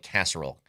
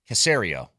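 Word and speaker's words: Caserio: I always say it like casserole. Cacerio, right?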